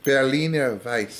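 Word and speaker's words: Berliner Weisse: Berliner Weiss.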